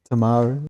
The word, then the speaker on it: Timaru: I'm going to butcher the name of this town, but Timaru. Got to say it like a Kiwi. Timaru.